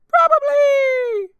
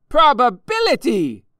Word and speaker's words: probability: Probably! No, not probably. Probability! Probably! Actually, you say it like this. Probability!